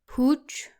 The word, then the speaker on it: huge: There's a hidden U sound in there. It shouldn't be like Human. Huge. Humid. they're pronounced like humid, huge, and human.